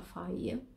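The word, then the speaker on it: Fage: Poi ho preso anche un faie, so che si pronuncia faie, questo yogurt senza grassi, e pochissimi zuccheri e tante proteine.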